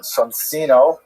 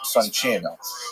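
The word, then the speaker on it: Soncino: I will probably pronounce it sonino because you know I was born in North America but it is uh in situ it would be pronounced sonino.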